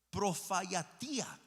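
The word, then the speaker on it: προφητεία: Y vámonos al término griego que se pronuncia la palabra profayatía, ¿sí?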